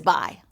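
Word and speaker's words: Bayh: your kind of guy his first name is birch his last name is bi birch bai was the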